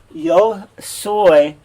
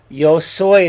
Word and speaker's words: yo soy: so you'll learn this yo soy is a your soy thing so just like soy beans yo soy is a now the